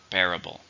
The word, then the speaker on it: bearable: something it's an adjective how many syllables are in bearable three stress in the first bearable it hurts but it's